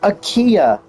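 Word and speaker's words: Aquila: And it's pronounced Akia. It's Latin for eagle.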